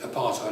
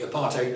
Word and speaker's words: apartheid: which means separateness uh we sort of pronounce it apartheid over here but that was a mistake when i think when the word groups this country apartheid is what it's called in south africa and i switched between